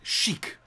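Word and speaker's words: Sagik: first store which is a place called chic but spelled like like a chic not like chic so like sh uh s-a-g-i-k yeah i was having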